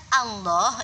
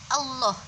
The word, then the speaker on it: Allah: ini kalian harus hati-hati pengucapan Allah itu rata-rata biasanya kekeliruannya adalah hanya tidak mangap sehingga dibaca allah-allah bunyinya Allah bukan Allah bukan Allah yang tapi